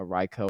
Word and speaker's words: Raikou: it's pronounced Raikou based on training Reiko.